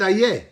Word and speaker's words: איה: He didn't say איפה, he said איה. Ayeka. Ayeka. So remember, איה is not איפה.